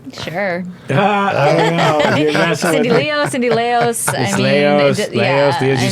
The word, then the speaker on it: Leos: so let's introduce cindy cindy leos is how you say your name right sure cindy leo cindy leos you say tomato i